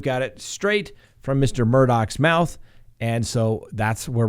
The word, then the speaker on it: Murdaugh: now you may say hey scott you've been pronouncing this murdah that's right i have that's the way it